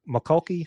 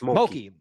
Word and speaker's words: Mulkey: McCulkey. How do you say her? LSU? Mulkey, just Mulkey.